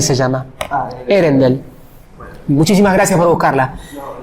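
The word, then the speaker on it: Earendel: No sé cómo se pronuncia. E-A-L-E. De vuelta. Mejor. Bueno. Erendel se llama. Erendel.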